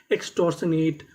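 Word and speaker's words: extortionate: लोग क्या कहते हैं, एक्सटॉर्शनेट। तो पूरी मीनिंग एक्सटॉर्शनेट, एक्सटॉर्शनेट। और हमें यहाँ पे आखिरी में ई का उच्चारण नहीं करना।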